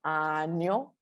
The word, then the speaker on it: 아니요: It's 아니요.